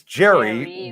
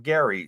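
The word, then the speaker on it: Gerry: a G so it's Jerry there you go you just pronounce it g Jerry uh like Tom and Jerry but it's got a g on it instead of a j got it there we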